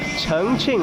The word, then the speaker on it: Chongqing: Chongqing, like Chengdu and Chongqing, but the same.